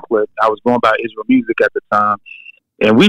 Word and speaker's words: Israel Musiq: used to be like it's pronounced Israel music because of Israel music